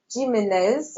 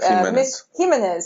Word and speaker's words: Himes: other question from Alia gimz apologies for me Himes Himes apologies for my mispronunciation of your name um al Alia asks